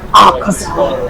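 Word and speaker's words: Akaza: Akasa.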